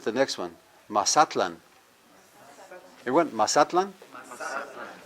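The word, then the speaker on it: Mazatlán: Everyone, Mazatlan? Now, most of us say Mazatlan. Right. Yeah, that's the Hispanic pronunciation. If you want to do that, that's fine, but in Nahuatl, it's Mazatlan.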